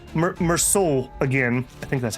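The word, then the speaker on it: Meursault: Even Even uh almost call him Merllo. Meroul again.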